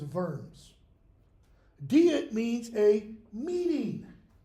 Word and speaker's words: Worms: It's a thing called the Diet of, use American pronunciation in English, Worms. But it's W-U-R-M-S. The German pronunciation is Worms.